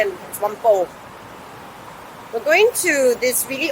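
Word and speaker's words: Whampoa: it's about one power i said just forget the a and one wampo we're going to this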